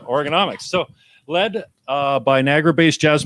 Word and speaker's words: Organomics: I don't read Organomics. That's how it's said, though. Right? Organomics.